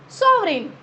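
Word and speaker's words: sovereign: सो सोवरेन, this is again ji silent.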